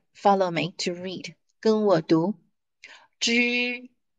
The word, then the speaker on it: 纸: Zhi. Zhi is paper. Paper. Zhi. So you see, syllables actually they make sense.